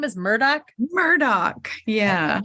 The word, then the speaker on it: Murdaugh: Murdoch. Yeah. I was saying his name totally wrong, like Murdaugh or something. It's spelt weird.